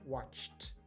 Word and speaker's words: watched: Sometimes ed at the end it is pronounced t, like here, watched.